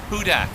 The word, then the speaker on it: Hudak: confusion about pronunciation uh is it is it with the bugle you hudak or is it kind of like horton here's a hudak ah there you go a dr seuss fan hudak like who dat guy